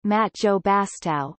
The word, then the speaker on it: Mathieu Bastareaud: Matt you bastard French pronunciation Matt Joe Bastile born the 17th of September 1988 is a